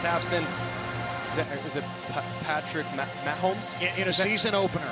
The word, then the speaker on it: Mahomes: in the first half since, is it Patrick Mahomes? In a season opener. Is that how you pronounce it? Yeah, Mahomes?